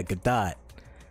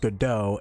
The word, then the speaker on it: Godot: i'm just like yeah good dot and no one not a one person decided to say oh by the way it's pronounced godot until the ending of